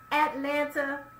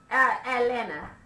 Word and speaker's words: Atlanta: Savage Talk is back in the A-Town, Atlanta. How come y'all don't pronounce no T's and you don't? Atlanta. Atlanta Pride. It ain't Atlanta Pride. It's Atlanta Pride.